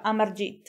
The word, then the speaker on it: Amarjeet: della nostra storia e amargi sada io spero sempre di averlo pronunciato bene ma da quello che ho capito si pronuncia a marge che appunto il serial